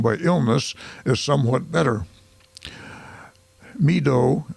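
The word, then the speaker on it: Meedoe: Meadow, it's spelled M-E-E-D-O-E, Meadow Canton has purchased a strip of land from Mr.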